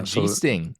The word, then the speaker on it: Giesting: By the way, one of his family members told me on Twitter that it's a hard G like Germany. Oh, interesting. Spencer Giesting.